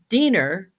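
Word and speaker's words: Diener: class so somebody wrote dinner because it rhymes with wiener okay we're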